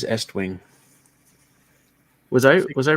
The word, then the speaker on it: Estwing: an a in it is it still east wing nope that is estwing was i was i